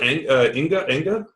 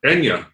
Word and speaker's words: Enya: But you've never heard of Inga? I think I've never heard of it because you're making. What is that? How do you spell it? I'm on the Google. I'm Googling. INGA? No, Enya. Enya.